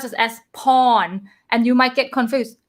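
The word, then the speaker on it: พ่อ: could you pronounce this this one is pronounced paw my egg second tone last syllable low consonant falling tone pau so par without final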